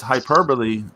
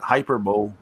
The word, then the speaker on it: hyperbole: It's hyperbole, not hyperbole.